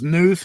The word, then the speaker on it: Knuth: I've heard his name pronounced Knuth, K-N-U-T-H. I thought it was Knuth, but it apparently is Knuth, so I will call him that.